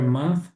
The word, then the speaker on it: month: Na palavra month tem, não se esqueçam, língua entre os dentes.